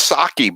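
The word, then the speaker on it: Psaki: you say it howie i feel like i keep saying her name wrong yeah it's it's sake but i caught i call her peace hockey okay got it um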